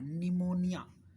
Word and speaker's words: pneumonia: P silent है, जैसे PNEUMONIA, ये एक बीमारी का नाम है जिसको हम पी नहीं पढ़ते, निमोनिया, निमोनिया, ये एक वर्ड है जिसमें एक बीमारी है, ये निमोनिया हो जाता है कुछ लोगों को, तो दिस इज पी साइलेंट इसमें।